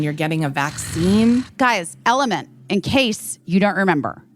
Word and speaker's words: LMNT: Guys, Element, in case you don't remember, Element, LMNT is how it's spelled.